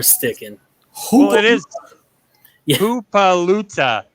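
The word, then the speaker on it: Hippolyta: Hoopaluta is actually her mom's name. That's how you pronounce it. It's spelled Hipplyta. That's Hoopaluta is how you're supposed to pronounce it, apparently.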